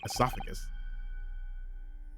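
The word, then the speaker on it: oesophagus: Okay, so it's a silent O in British English.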